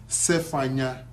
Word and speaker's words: Zephaniah: But in our dialect, you use words like that, Avaku, we use Zephaniah, the proper pronunciation is Zephaniah.